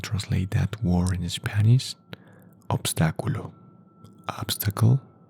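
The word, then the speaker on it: obstáculo: Everyone know what is an obstacle and what is the pronunciation and translate that word in Spanish? Obstaculo. Obstacle. Obstaculo.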